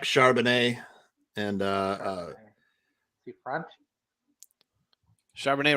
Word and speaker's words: Charbonnet: Charbonnet rhymes with Chardonnay.